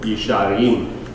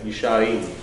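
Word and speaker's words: ישרים: Yisharim. See, because did I add a syllable here? Did I add a syllable? So you're going to reduce the first to extend the second. Yisharim.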